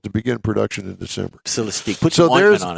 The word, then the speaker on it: Celestiq: that's the one I was talking Celestic? about. Celestic, yeah. Saran wrap. Celestique. The $300,000 hand-built fastback sedan scheduled to begin production in December. Celestique.